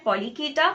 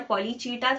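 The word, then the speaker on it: Polychaeta: पहला है पॉलीकीटा, पॉलीकीटा और पॉलीचीटा, थोड़े लोग चीटा भी बोलते हैं, तो आपकी मर्जी है आपको कैसा प्रोनाउंस करना है करो। I prefer saying पॉलीकीटा।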